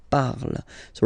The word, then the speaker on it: parles: Then for tu, you will have to put es, okay? Phonetically, tu parles. So you've got the two first forms, you pronounce them the same way. You write them differently, of course, because you've got here, and then you've got and s, okay? But then phonetically, they are the same.